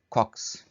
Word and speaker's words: caucus: Next word is caucus. Caucus, इसको कॉक्स भी, इसका प्रोनाउंसिएशन आ रहा है, कॉक्स भी आ रहा है, तो अमेरिकन और ब्रिटिश प्रोनाउंसिएशन थोड़ा सा चेंज है, कॉक्स कह रहे हैं इसको।